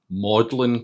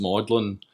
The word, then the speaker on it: Magdalene: up just through freaky bizarre circumstance and misinformation madlyn College it's actually spelled Magdalene bits pronounced maudlin which at the time was maybe the last